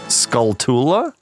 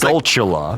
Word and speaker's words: Skulltula: Skulltula? I heard something from one of our loyal basement It could be fans. chula, like tarantula. That's what they were saying, and I was Skulltula.